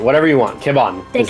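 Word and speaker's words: Kebhon: e b h o n whatever you want kibon is how is the how it's pronounced continue okay and I I'll I'll take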